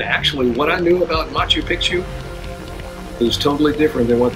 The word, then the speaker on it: Machu Picchu: And yeah, that's how you say it. It's Machu Picchu. I always call it Machu Picchu for these years, but just goes to show what I know.